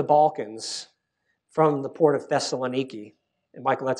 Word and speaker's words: Thessaloniki: Although they're very important because it's a route into the Balkans from the port of Thessaloniki. And Michael, that's how you pronounce it, by the way.